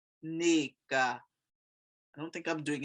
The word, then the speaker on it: Nneka: this um it's actually nica now when i hear nigerians pronounce it it's the most beautiful thing they they emphasize the first part of the word to it it's nica i don't think i'm